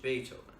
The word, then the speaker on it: Beethoven: He mentioned Beethoven. She had read in the library about that musician. His name was pronounced with an A and spelled with a double E.